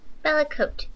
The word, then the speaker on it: Bellecote: Is it Bellecote or Bellecore? How do you pronounce that? Bellecote. Bellecote. We have Bellecote representing the Alliance side.